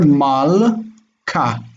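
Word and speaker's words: מַלְכָּה: When you have beged kefet following a silent shva, it's hard. So mal ka, this is ka.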